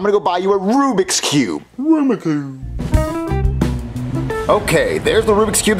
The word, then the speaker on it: Rubik's Cube: a rumiku are you saying Rubik's Cube no Aroma Cube Jeffy it's pronounced Rubik's Cube no it's Aroma Cube Marvin you know what